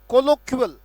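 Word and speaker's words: colloquial: को आमूल रूपांतरित करने की ताकत है इसमें, कोलोक्युअल, कोलोक्युअल, आमूल रूपांतरण करने की ताकत है इस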